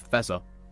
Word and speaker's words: Fe22A: So if you wanna go on Spotify and listen to the artist, it's Fezza, but it is spelled Fe22A. Just to clarify, it's Fezza, spelled Fe22A.